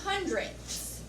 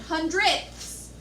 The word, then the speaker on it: hundredths: And then we have hundredths. Notice we also have that THS sound at the end, hundredths.